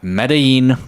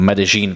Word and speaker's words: Medellín: Moving on to number two, it's going to be none other than Medellín, Colombia or Medellin, Colombia, how it's pronounced.